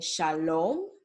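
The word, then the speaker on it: שלום: When you see the letter O, it's going to be pronounced as O, like in Shalom.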